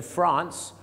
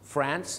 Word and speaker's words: France: ไม่ ใช่ fr France หรือ จะ เป็น France เพราะ สำเนียง ฝรั่ง ชาว อเมริกา จะ เป็น สระ แอ สำเนียง ชาว อังกฤษ จะ เป็น สระอา France หรือ France ชาว ฝรั่งเศส